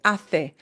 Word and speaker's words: hace: Sí, que hace. Hace is hace. This is the example of the Castilian pronunciation.